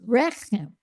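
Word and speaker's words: רֶחֶם: Yes, rechem.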